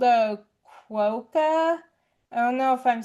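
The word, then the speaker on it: quokka: It's called a qua.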